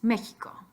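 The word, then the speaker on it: México: Spanish so pot door then with the huh you have three possibilities a G and J or an X G paint they J come on X Mexico and finally the Sun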